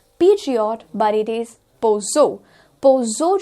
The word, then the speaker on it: Peugeot: हम इसे सोचते हैं it is Peugeot. Peugeot गलत प्रोनाउंसिएशन हो जाता है और सही प्रोनाउंसिएशन है Peugeot इस पर्टिकुलर कार का सही प्रोनाउंसिएशन है, it is not Peugeot but it is Peugeot